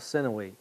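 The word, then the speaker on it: Sinuhe: it up I actually have a slide with it's spelled si in uhd the tale of sinawe it's dates to about the same time period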